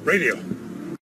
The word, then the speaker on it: radio: no seas un pesimista radio radio radio Esto no es radio no se pronuncia como si tuviera una a sino como si hubiera un pequeño sonido de e radio radio la siguiente